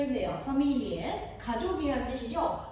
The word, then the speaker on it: Familie: familie, 가족이란 뜻이죠. 자, 가족이란 단어 강세 어디로 갑니까, 여러분? 그렇죠. 이음절에 갑니다.